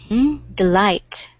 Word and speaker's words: delight: we have this word, delight. Delight. The Can you light. hmm? The light. hmm Can you hear where the stress is? It's in the eye, I think.